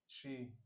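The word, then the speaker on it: she: फिर ये फिर वही प्रोनाउंसिएशन वाली बात एस एच ई शी हां आपने बोला शी was crying. शी was crying शी शी was crying है ना? ये एस एच वाला आप अभी भी प्रैक्टिस करें थोड़ा।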